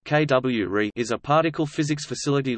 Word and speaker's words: CUORE: The Cryogenic Underground Observatory for Rare Events (CUORE), pronounced KWRE, is a particle physics facility located underground at the Laboratorio Nazionale del Gran Sasso in Assurghi, Italy.